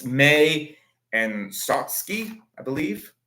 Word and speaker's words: Satsuki: It's May and Satsuki, I believe. Yeah, Satsuki. I got a win for that. One win for pronunciation.